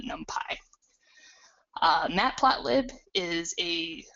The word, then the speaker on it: NumPy: I've also heard this pronounced as numpy but for consistency with the name of the language Python I pronounce it numpy.